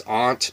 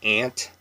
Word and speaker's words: aunt: The word is aunt, but we say ant. It's just straight up ant.